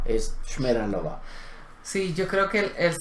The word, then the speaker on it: Šmeralova: favor, ¿me puede decir dónde queda la calle Esmeralova? Y él dice, Šmeralova. Y yo digo, wow, qué diferencia entre lo que él acaba de decir y lo que yo le pregunté. O sea, no es Esmeralova, es Šmeralova.